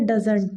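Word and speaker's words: doesn't: देखो इसका जो प्रोनाउंसिएशन होता है ना वो होता है डजंट, डजंट, डजंट, और डी ओ ई एस एन ओ टी पूरा कंप्लीट लिखेगा तो उसका होता है डज नॉट, और दोनों चीज़ें सही हैं, ठीक है।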